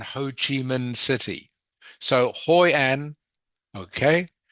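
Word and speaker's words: Hội An: And the example is hoan. Hoy an is quieter or more quiet than Ho Chi Min City. So Hoyen. Okay, Hoy and is actually just one syllable. Two names but one syllable.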